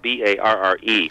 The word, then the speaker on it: Barre: Yeah, Barre. Actually, my last name is pronounced Barre. It's spelled B-A-R-R-E. Oh, okay. But so not uncommon to pronounce it the way you did, but I actually pronounce it Barre.